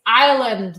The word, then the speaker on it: Ireland: Do you know it's Ireland, like the country, not Ireland as in Ireland.